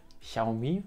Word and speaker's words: Xiaomi: Offiziell soll das X wohl ausgesprochen werden wie das CH in weich, also Xiaomi scheint wohl richtig zu sein.